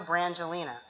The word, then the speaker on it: Brangelina: How do you pronounce that word right there? He doesn't know Brangelina.